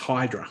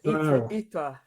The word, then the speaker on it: Hydra: and I'm assuming uh the island is not um pronounced hydra, which is how I would pronounce it. No, that's exactly what I probably somera or something or I uh researched that. Ira more like Yeah.